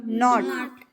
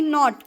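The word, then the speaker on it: knot: एन शेजारी आलेले आहेत के आणि एन शेजारी आले की फर्स्ट के काय असतो सायलेंट तो वाचायचा नाही मग याच प्रोनन्सिएशन काय होणार नॉट आता पहा एनओटी नॉट म्हणजे नाही एनओटी नॉट म्हणजे नाही आणि के एन ओटी नॉट म्हणजे गाठ गाठ कळलं का के सायलेंट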